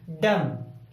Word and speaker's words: dumb: क्योंकि एम के बाद बी आया, तो बी साइलेंट हो गया।